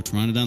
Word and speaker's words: Pteranodon: of my name like in pterodactyl or Pteranodon like a silent P yes or you can